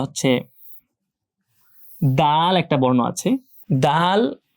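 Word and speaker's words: دال: দাল এটার similar sound বাংলায় আছে। দ। এইযে বাংলা আমরা দ লিখলাম। দ আর দা। দেখেন সাউন্ড কিন্তু সেম। বর্ণ উচ্চারণে হয়তো পার্থক্য আছে প্রোনাউন্সিয়েশন বাট সাউন্ড একটা আছে যেটা বাংলায় দ পাওয়া যাচ্ছে দ। তো সে বর্ণটা আমরা উচ্চারণ করতে পারি টেনে দাল।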